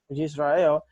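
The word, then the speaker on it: ישראל: se dice que que creo que se pronuncia Israel yisrael Qué significa el que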